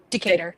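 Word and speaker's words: Decatur: 19th, 2025 out of I don't know if that's pronounced decor or Decater. Decator. I knew.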